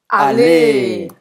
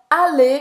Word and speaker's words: aller: que é o verbo aller. Aller em francês, que significa ir em português. Aller. Aller. Então, eu não vou pronunciar esse R.